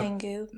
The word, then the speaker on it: Canggu: Canggu.